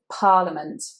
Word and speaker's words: parliament: Number 20 is parliament, parliament. Now here in the middle we have an I. The letter E there is actually a schwa, parliament, parliament. The stress is on the first syllable.